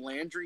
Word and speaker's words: Landry: And by the way, Vince Young, it's Harold Landry, not what you pronounced it as.